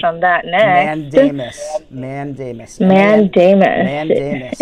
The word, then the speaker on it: mandamus: that now and Amos Amos man Daymond is that how it's pronounced that's how it's pronounced and it's spelled MA and DA mus and it is Abel on